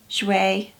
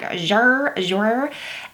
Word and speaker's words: Jouer: I am wearing one of the new Jouer lipsticks, the liquid lip creams. You guys had to tell me how to pronounce that because I told y'all in the last video I was like Jouer, and you guys were like, no, it's Jouer.